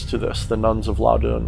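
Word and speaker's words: Loudun: this the nuns of loudoun or loudon or i think it's loud doing is how you're supposed to say it that's how i pronounce it and of course if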